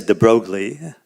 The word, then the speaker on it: de Broglie: and even classical thermodynamics so now we can get to de bruy i think it's actually pronounced but in the united states no one knows what you're talking about if you say that so i say de broglie okay and um einstein